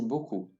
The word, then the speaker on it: beaucoup: Notice that the EA followed by a U is always pronounced like an O, with straight lips. O. Beaucoup. Please note that the P at the end is not pronounced, as there is no vowel, such as an E behind it.